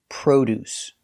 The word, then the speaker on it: produce: look at the pronunciation the word is produce we use the long o like No And Go Pro produce the first syllable is stressed so produce produce produce is a